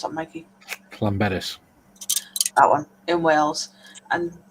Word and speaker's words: Llanberis: Athol says, as part of the climbing team, we used to drive across England from RAF Watersham to, how do you pronounce that, Mikey? Llanberis.